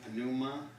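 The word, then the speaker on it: πνεῦμα: Alright, Kai, Pan, Pneuma, Yep, just pronounce that P. Kai, Pan, Pneuma, Yep.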